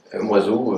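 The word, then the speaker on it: Moizo: Ça s'écrit Moiseau avec un Z, M-O-I-Z-O. avec un Z comme un oiseau.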